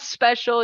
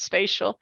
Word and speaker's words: spatial: time always be no it's not special it's spatial and so I like